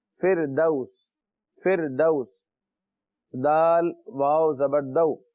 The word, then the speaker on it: فردوس: جنات الفردوسی, اردو میں ہم کہتے ہیں فردوس, جنت الفردوس, لیکن عربی میں اس کا صحیح تلفظ ہے فردوس.